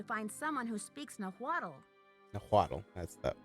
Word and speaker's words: Nahuatl: Nahuatl. That's how you pronounce That's that.